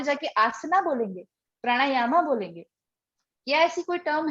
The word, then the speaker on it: प्राणायाम: जैसे प्राणायाम है, आप बोलते हैं प्राणायामा, क्योंकि स्पेलिंग में लास्ट में ए लिखा है, इसलिए आप उसको ना ए प्रोनाउंस करने लगते हो, ए प्रोनाउंस करने लगते हो, प्राणायामा।